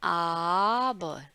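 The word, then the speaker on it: aber: हम कहते हैं लेकिन, इसका उच्चारण कैसे रहता है? आबर, आबर। कई लोग जो है रा बोलते भी नहीं है, आबर आबर करके बोलेंगे ना, आबर इश स्प्रेche auch डॉइच।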